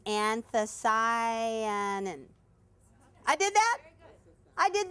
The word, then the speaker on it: anthocyanin: It's anthocyanin.